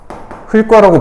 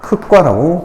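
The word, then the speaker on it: 흙과: 이건 안 그래. 흘과라고 발음하지 않아. 기역으로 시작하는 형식 형태소가 왔지만 이것이 용언이 아니기 때문에 흘과가 아니고, 이 경우는 흑과라고 발음을 해요.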